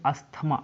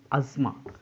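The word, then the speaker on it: asthma: Same इसी प्रकार मैंने अगला वर्ड कहा, इसे आप पढ़ेंगे अस्थमा। अस्थमा कहना सही नहीं है, अज़मा, अज़मा।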